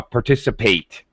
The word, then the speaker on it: participate: appropriate consolate okay but when it's a verb it sounds like the number eight that's when we use the long uh vowel sound uh participate we're going to participate